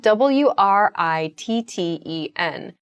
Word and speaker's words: written: It sounds more like a d sound almost.